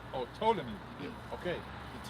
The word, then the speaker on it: Ptolemy: by the suggestion of Ptolemy. Oh, Ptolemy. Okay. The T is silent, I think. Or P is silent, yeah.